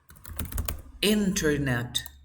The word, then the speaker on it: internet: The second rule, when you have NT and vowel sound, is the same. You never pronounce the T.